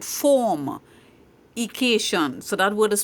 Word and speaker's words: formication: talk about formication and you heard me correct I did not say fornication I said formication so that word is